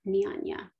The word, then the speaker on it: Jnana: be teaching you the nihanya mudra which is spelled j n a n a but pronounced niyanya so this the core